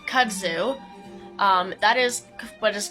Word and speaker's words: kudzu: like for example Kudzu which I recently learned I have been pronouncing incorrectly um I think I called it cues do before but Kudzu um that is what